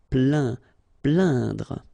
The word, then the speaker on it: plaindre: Plaindre. Okay, when you combine this A-I-N, you will get the sound un. So really, this nasal sound in your nose. Plaindre.